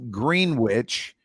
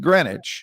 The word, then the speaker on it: Greenwich: of new york that by all rights should be pronounced green witch right pronounced greenwich so you just you